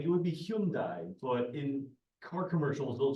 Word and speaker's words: Hyundai: lease options for a Hyundai Accent well I'm happy to I believe it's pronounced Hundai uh but it could be Hyundai uh I don't know if the Y is particularly accented uh with a lot